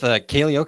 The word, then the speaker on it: Kaleo: So Dan is with Kaleo Coaching. Am I pronouncing that correctly? Yeah, that's right.